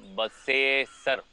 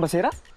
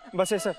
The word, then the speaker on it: Basesar: Ram Basesar. What? 'Ram Basera'? Sir, he can't even say his name properly. Sudhakar.. Certain people have issues with pronunciations. He suffers from the same issue. Really? Say Basesar! - Basesar!